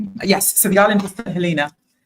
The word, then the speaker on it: St. Helena: Yes, so the island is St. Helena. Spelt St. Helena, but it's pronounced St. Helena.